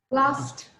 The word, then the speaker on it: last: huh how to pronounce last last last it should be last last not lost last minute the last